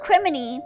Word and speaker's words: criminy: Oh, criminy, pronounced like Jiminy Cricket.